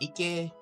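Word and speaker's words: 池: Okay, so like basically, this part here is pronounced as ike, which I normally read as lake in English.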